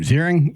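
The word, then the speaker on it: Ziering: everybody hey how do you say his name zering you know Ian zering yep from 9021 remember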